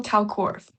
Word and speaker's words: Kalkwarf: It's Cockworth. Cockworth, okay.